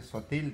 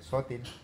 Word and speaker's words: Sotil: En lugar de decir sotil, dije sótil.